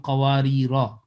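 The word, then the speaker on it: قواريرا: Either you say Qawari Ra, long, alif will be the part of this pronunciation, or you can say Qawarir. But I prefer to do with alif, Qawari Ra, and do not take that Qawarir, though it is allowed, but I would prefer.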